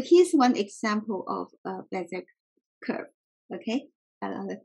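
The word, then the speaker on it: Bézier: Bezier curve? Bezier. Oh, Bezier.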